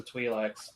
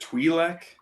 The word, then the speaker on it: Twi'lek: Oh wait, no, that was the Twi'lek's position. Pronounce it Twi'lek.